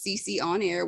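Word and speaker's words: sisionair: youtube channel which is cc on air which is spelled s-i-s-i-o-n-a-i-r or my other channel cc pruitt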